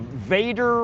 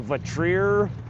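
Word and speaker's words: Vatrer: It's a Vader or a Vatrier. I've heard it pronounced both ways.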